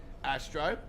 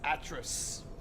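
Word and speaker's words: Actros: And I absolutely apologize cuz I thought it actually was Astro. Uh but it actually is Atris.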